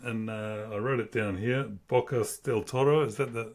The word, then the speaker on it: Bocas del Toro: Bocas del Toro.